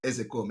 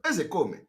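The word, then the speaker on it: Ozekhome: You know, people are laughing when I call him Ezekome. Ezekome is the pronunciation. A lot of people don't know. You know, they come and they pronounce his name and adding Ke, Ezekome.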